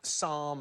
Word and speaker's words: psalm: Name a Greek word with a silent P. Enos. Sigh. Do you mean as in pterodactyl? Psalm and philosophy and...